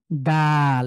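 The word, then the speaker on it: دال: আমরা পেয়ে গিয়েছি এরপরে আমরা এরপরে পরে দেখলাম দাল এরপরে কি এটা দাল দয় আকারে দা ল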